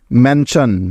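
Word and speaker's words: mansion: সুতরাং এই শব্দটির উচ্চারণ হবে MAN ম্যান এবং SION শন, ম্যানশন।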